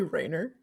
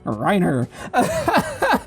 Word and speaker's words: Reiner: You just call me Rainer. Did I pronounce that wrong? I'm Reiner. Reiner. Yeah. Wow. Not Rainer, Reiner.